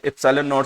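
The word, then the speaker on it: ε₀: गया, small letter, और ये होता है एप्सिलॉन, और जीरो को बोल दिया नॉट।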